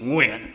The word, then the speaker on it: Nguyen: The reason is because I was born in Vietnam and raised in the United States, and people in America cannot pronounce my last name, which is really Nguyen in Vietnamese.